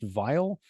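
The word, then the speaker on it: Weil: um uh Mr vile I like his Gustav vile it's if you look at it looks like while you know w-e-i-l but it's pronounced vile and I didn't know that when I was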